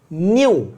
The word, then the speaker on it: nu: देखना मैंने ऐसा लिखा है, दिस इज न्यू, है ना, ग्रीक लेटर NU, न्यू। कैसे प्रोनाउंस करेंगे, NU, न्यू।